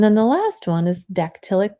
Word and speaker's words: dactylic: i'll copy and paste an example there and then the last one is dactylic kind of sounds like pterodactyl it's just the opposite